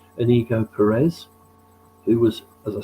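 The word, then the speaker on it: Íñigo Pérez: was, I'm going to have to get this pronounced right, Inigo Perez, who was, as I say, Iriola's assistant at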